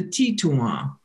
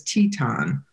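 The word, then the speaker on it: Titonwan: And then the last one is the Tituan, the dwellers in the prairie or dwellers in the lodges, sometimes mispronounced as Teton.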